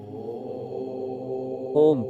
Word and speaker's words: ओम: का उच्चारण और स्वरूप ओम को तीन अक्षरों से मिलकर बना माना जाता है अ उ और म इन तीनों ध्वनियों का उच्चारण मिलकर ओम की ध्वनि उत्पन्न होती है यह ध्वनि गह ध्यान